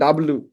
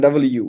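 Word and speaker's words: W: তো সবাই উচ্চারণ করে ডাব্লু। হেভি হেভি উচ্চারণ বাংলাদেশে, ঠিক আছে? ডাব্লু। এটা কিন্তু ডাব্লু না, ডাবল ইউ, ওকে?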